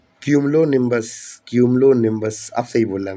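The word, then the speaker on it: cumulonimbus: इन्हें बोलते हैं क्यूमिलोन सॉरी कम ओलोनिनस मैं शायद प्रोनाउंसिएशन गलत बोल दी मैंने यहां पे। क्यूमलोनिबस क्यूमिलोबस आप सही बोल रहा मैं क्यूमलोनिबस तो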